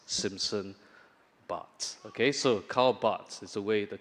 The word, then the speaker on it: Barth: thing I'm going to do is correct my pronunciation of his name because it's not bath it's actually but like but Simpson but okay so not daf Vader bath the but but Simpson but okay so Carl Bots is the way the correct way to pronounce